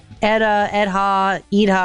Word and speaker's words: Edha: So Edha, whatever the hell you call it, I'm in. Yeah, I think they're saying as far as my crack staff here can tell, they think it's pronounced Edda.